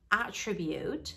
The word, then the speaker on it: attribute: protest to disagree with they attribute the stress in the beginning the a becomes a attribute and it means a characteristic if you put the stress on the second syllable it becomes a tribute which means to say